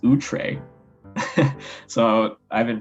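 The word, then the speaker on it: outré: it just means unusual and startling oh it's pronounced utre so i've been pronouncing it wrong utre okay that's that's a good thing to know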